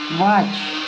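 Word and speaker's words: watch: डब्ल्यू ए से व यहां टी साइलेंट है सी एच चेक वॉच क्या बोलेंगे वॉच वॉच नहीं बोलेंगे वॉच बोलेंगे क्या बोलेंगे?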